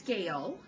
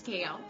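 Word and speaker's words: Gale: Well, my first name is Gail, and it's spelled G-A-L-E, like the storm.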